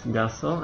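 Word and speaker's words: garçon: dibaca S walaupun e diikuti oleh A jadi walaupun a i terserah dia akan selalu dibaca S fas GL Kalau sa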